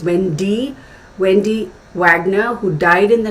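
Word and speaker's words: Wende: One of Sharon's friends was the actress Wendy, W-E-N-D-E, but pronounced as Wendy Wagner, who died in the 1990s.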